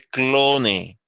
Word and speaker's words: clone: se conocen como Clon se escribe clone se pronuncia Clon eh entender Pero el